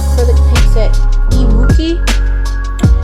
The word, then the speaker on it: EMOOQI: It's called Acrylic Paint Set Emooki. It's spelled EMOOQI, and it's $19.99.